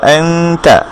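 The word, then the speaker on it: أنتَ: ঠিক আমরা যখন আনতা গুন্নাটা করছি, এই নুনের জন্য আমরা নুনের মাখরাজের কাছে না রেখে তায়ের মাখরাজে নিয়ে যাব নিজের জিহ্বাকে, তারপরে আমরা উচ্চারণ করব আনতা আনতা। আপনি আপনার জিহ্বাটাকে রাখবেন এই জায়গায়, অর্থাৎ উপরের দাঁতের গোড়ার সাথে আপনার জিহ্বার আগাটাকে রেখে আপনি বলবেন আনতা আনতা।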